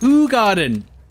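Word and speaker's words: Hoegaarden: it's like it's like really bitter whereas Hogarden and Paulina are really good. It's pronounced Hog Garden.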